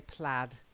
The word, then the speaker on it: plaid: a clergyman and then we say plaid I know it looks like aid but we actually say plaid and clad is if